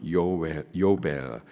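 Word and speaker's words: יובל: 히브리식 발음으로는 요벨, 뜻은 기쁨의 해예요.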